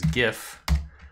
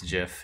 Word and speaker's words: GIF: Utah image file type of thing much debated pronunciation is gif I have to say it out loud and I won't allow you to claim that it's jiff even though the creator of the format thinks